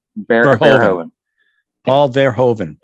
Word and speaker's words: Verhoeven: it'll- Paul Verhoeven. What's how you say his name? Verhoeven.